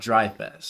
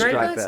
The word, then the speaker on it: Dreyfest: It's pronounced Dry Fest. It is Dreyfus?